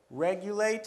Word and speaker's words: regulate: Regulate has only 3. Regulate, but it's the same rule.